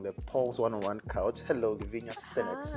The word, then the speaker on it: Lavinya: Hello, Levenia. Hi. Yes. I hope I got her name correctly, the pronunciation, everything.